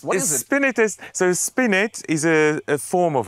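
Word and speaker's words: spinet: to just save myself here how do I pronounce that word spinus spinus what is it spinus so spinit is a a form of harpsicord normally a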